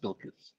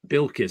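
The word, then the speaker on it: Bilquis: But the first name is pronounced Bilkis. Bilkis.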